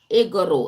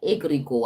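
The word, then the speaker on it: egregore: Egoro. It's called a ego. Sorry. It's called a egregor. I pronounced it wrong the first time.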